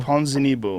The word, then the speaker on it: Ponzinibbio: Ponzinibbio. Ponzinibbio.